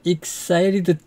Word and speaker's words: excited: I'm so excited to see the city. excited인데 excited to 이렇게 T가 거의 R자에 가깝게 발음한 것은 T가 두 개의 모음 사이에 있기 때문에 그런 겁니다.